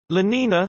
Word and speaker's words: La Niña: La Niña, Spanish pronunciation, La Niña, is a coupled ocean